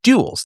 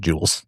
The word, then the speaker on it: duels: glove, and there was duels. There were duels. Now, what was the point of duels? The point of duels was to keep people polite. Duels, not jewels. Duels. I should pronounce that better. D-U-E-L-S.